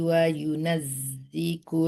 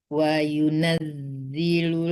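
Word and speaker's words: وَيُنَزِّلُ: Huwallazi yurikum ayatihi wa yunazziku lakum Zilu bukan ziku ya. Lam itu. wa yunaz wa yunazziku lakum Bukan ku ya, itu tuh lam ya. Kalau Iya, kaf iya, ya ada tanda S-nya di situ di dalamnya ya.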